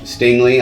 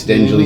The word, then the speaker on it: Stingley: say his name wrong stingley i didn't want to say it's stingily stingley stingley i think if he falls